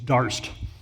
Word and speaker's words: Darst: It's Darst. D. Not to be confused with Jackson Dart, the maybe next hope for the New York Giants for those of you who who are paying attention.